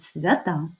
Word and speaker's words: свята: А тепер стали свята і ще змінився наголос запам'ятайте у множині це будуть свята далі торт у однині